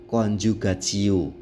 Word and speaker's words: coniugatio: Membacanya conjugatio. Perhatikan tulisannya coniugatio.